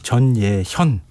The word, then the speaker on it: 전예현: 예, 이름 발음이 전예현. 이 아마 청취자분들이 헷갈리실 것 같아요. 이응하고 히읗이 같이 들어가요. 제 이름의 발음이 전예현 이렇게 되니까 맞아요.